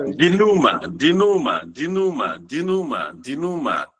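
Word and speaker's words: dénouement: I heard something of D or I didn't get the pronunciation well, please. Sorry. Duma.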